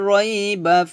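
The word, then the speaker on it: رَيْب: যেহেতু ওয়াকফের অবস্থায় কলকলো হরফ আসছে এজন্য কলকলো করতে হবে, রইব হবে না, হবে রইবে।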